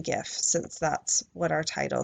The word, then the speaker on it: GIF: gif and that's that in 2014 President Obama went with a hard G and it turns out he was right so I would say